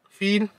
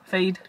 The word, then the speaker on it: Feid: Fade. Feed. Offline. You know how to pronounce it? Fade. Fade. Uh-huh.